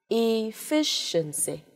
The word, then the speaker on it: efficiency: Efficiency, mọi người thấy rất rõ này, efficiency này, đây là âm sure này, sure nặng là ơ này.